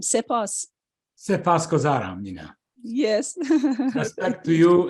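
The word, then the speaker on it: سپاسگزارم: Sepasgozaram, sepas. Sepasgozaram, Mina.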